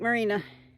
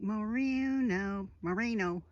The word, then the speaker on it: Moreno: Well, I'll catch you at Lake Marina. Well, there's Lake Moreno.